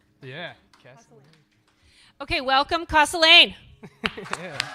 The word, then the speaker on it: Casalane: Casalane.